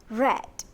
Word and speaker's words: read: do you notice that i pronounce the word read as red do you know why